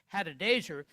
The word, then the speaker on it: Hadadezer: We learn that his king, by the way, his king was a Syrian man by the name of Hadadezer, let me pronounce it right, Hadadezer, and he held Naaman in highest favor.